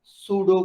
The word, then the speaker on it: pseudo: ठीक है, ये सूडो क्लासेस आ जाती है, इसका पी नहीं प्रोनाउंस करना। ठीक है, इट इज सूडो क्लासेस।